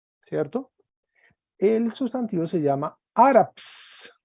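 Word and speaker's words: Ἄραψ: El sustantivo se llama áraps. Áraps trae un espíritu suave y un acento agudo en la primera sílaba.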